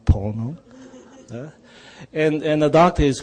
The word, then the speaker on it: Pono: whole ponopono Pono yeah it's not porno Pono and and the doctor